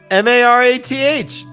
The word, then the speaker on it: Marath: must be leashed it says that m-a-r-a-t-h guys i said it right marath demonic you